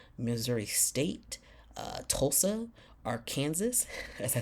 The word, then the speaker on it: Arkansas: State uh Tulsa our AR Kansas as I like it's Arkansas but it's spelled Aransas come on like literally but yeah